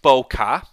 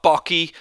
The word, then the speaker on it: bokeh: So first of all, it's pronounced bokeh. B-O, bokeh. Not bokey, not bokeh, it's bokeh.